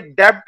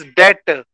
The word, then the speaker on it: debt: एक बात और बच्चों ये डेब्ट नहीं है DEBT डेब्ट नहीं है ना ही डैब है ना ही डेब्ट है इट इज डेट DET डेट हालांकि बी आता है इसमें पर बी साइलेंट है याद रखेंगे ठीक है